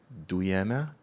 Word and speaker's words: Doyenne: yeah all right okay but it pronounced like diane i i always i